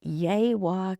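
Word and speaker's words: Yegua: The creek that starts with a Y and he said yaywa.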